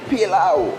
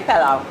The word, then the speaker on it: pilau: And today, Chef Debbie is going to be teaching me how to make pilau, or some people say pilau. Correct. How do you say it? I say pilau.